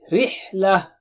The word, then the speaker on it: رِحْلَة: Rihla. Rihla. Ra is thin here.